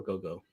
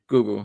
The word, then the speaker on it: Gugu: Gugu or Gogo? Gugu. Her name is Gugu. It's Gugu. Gugu.